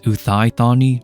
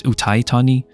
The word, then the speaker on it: Uthai Thani: wrong so I see a lot of people pronounce it as uani but that is not how you pronounce it it's pronounced as utani and that's basically where they're from hence why